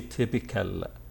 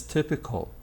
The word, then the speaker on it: typical: adjective typical typical and please don't say typical no no no it's typical call now the adverb is